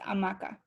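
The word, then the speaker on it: hamaca: but it excuse me h is silent in spanish so it's amaca all right anything else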